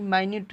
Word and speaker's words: minute: MINUTE, इसका pronunciation क्या होगा, उच्चारण क्या होगा? मिनट, यही ना। लेकिन यही माइन्यूट भी पढ़ा जाता है, MINUTES, माइन्यूट्स माने सूक्ष्म या छोटे।